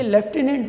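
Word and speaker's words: lieutenant: हिज लेफ्टिनेंट, ये लेफ्टिनेंट word है, इसको याद रख लें, इसके स्पेलिंग बड़े ट्रिकी होते हैं। तो लिeutenant मतलब उस तरह पढ़ने में शायद आपको लगे, बट दैट इज़ लेफ्टिनेंट।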